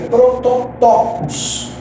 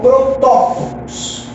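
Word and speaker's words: πρωτότοκος: O termo primogênito no grego é prototokos, tá? Ou protótokos. Fica a seu critério. Por ser uma língua morta, nós não temos uma pronúncia correta. Eu prefiro prototokos, que é mais fácil de falar.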